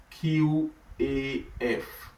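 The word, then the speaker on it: ق: It's spelled as Q-A-F.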